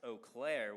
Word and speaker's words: Eau Claire: Miss Bennett grew up in Eau Claire, pronounced Eau Claire, Wisconsin, and is still a Badgers fan.